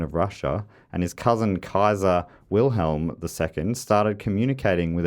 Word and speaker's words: Caesar: and not only that the latin word was probably pronounced just like kaiser with a hard c instead of a soft one so he said so